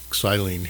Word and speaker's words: xylene: This is just calcium carbonate, and I'm using some xylene here. That is the Greek pronunciation, to draw out any contaminants from those pads, those damaged pads.